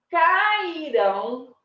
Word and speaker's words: cairão: Agora, as meninas cairão de patins, né? Se não souber andar, tá treinando ainda. As meninas cairão. Orão. Olha a sílaba forte onde que cai. Cai na última sílaba.